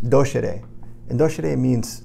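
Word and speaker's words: docēre: doctor comes from the Latin word which is pronounced dosha day and though should a means to teach so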